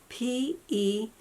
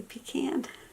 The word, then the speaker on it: pecan: i call them fireflies how do you say this word p-e-c-a-n i say pecan i don't say pecan only the fancy say pecan i think i say